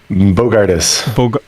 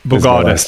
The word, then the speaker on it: Bogardus: I don't want to mispronounce your name. Bogardus. Bogardus.